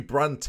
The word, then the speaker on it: Brandt: I don't know who Brandt is but Julian Brandt I don't know Brandt I thought like I said it wrong but it is brand isn't it that's how if we